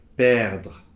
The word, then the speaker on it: perdre: y a attendre, prendre, perdre. - , . Oui, le E final normalement on ne le prononce pas ou vraiment très légèrement, C'est perdre, , .